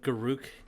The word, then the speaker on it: Garuk: know, I'm looking at pictures of Garuk because Garrick is a dumb way to pronounce his name.